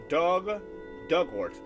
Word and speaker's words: Dugort: Pronunciation, Dugort. Like the past tense of dig and ort rhymes with hurt. Dug hurt, okay.